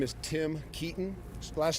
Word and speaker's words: Keeton: My name is Tim Keaton. Last name is spelled Keeton.